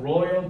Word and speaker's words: royal: A collection of royal books. royal이 무슨 뜻일까요? 잠깐만. 왕실이라는 뜻이야 이거. 혹시나 조심하셔야 되는 게 뭐냐면 발음도 달라요. 이건 royal인데요. loyal이라고 하는 애가 있어요. loyal. 그냥 L로 시작하는 거.